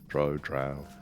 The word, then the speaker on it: Drow: I think that I've ever heard it pronounced Drow, though. Well, that is the way it's spelt, I guess. Or Drow. Can I name drop? Sure. That's how Salvatore spells it. Pronounces it. What, Drow or? Dro.